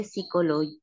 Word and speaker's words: psychologue: Les médecins, les psychologues, les professeurs de sport le disent. Ah, le 10, le 10, le 10. Oui, le psychologue, et qui, si vamos a siempre prononcer la P, psychologue, les professeurs et